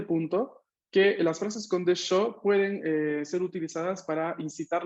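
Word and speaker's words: でしょ: vamos a ver que el desho no se pronuncia tanto desho, sino desho con una O corta al final.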